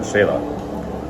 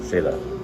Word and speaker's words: Xela: Yeah, we're in Shayla. That's how you pronounce it, Doug. X is pronounced like sh. Shayla.